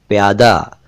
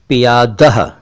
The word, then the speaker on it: पियादह: से तो परिचित होंगे, प्यादा। सही उच्चारण है इसका पियादह, और यही इसका रूप है क्योंकि ये फारसी भाषा से इसी रूप में उर्दू में आया और फिर हिंदी में आ गया।